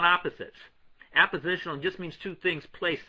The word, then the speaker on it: appositional: It's not a commonly known word, and it's a tricky word because it sounds almost like you're saying oppositional, from opposites. These are not opposites. Appositional just means two things